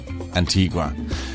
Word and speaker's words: Antigua: You see, it's named after a church in Sevilla in Spain, Santa Maria la Antigua. And in Spanish, it is Antigua.